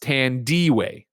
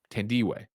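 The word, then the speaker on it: Tandiwe: her first name uh tandy t-a-n-d-i-w-e and it's pronounced tan d-way ten d-way so that's what's happening over there thank you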